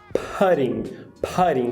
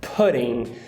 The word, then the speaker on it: pudding: vê essa palavra escrita, a gente tende a falar pudding com carrot, que é aquele chapéu chinês. Entretanto, essa vogal não é o carrot, então a pronúncia não é pudding, a pronúncia é pudding.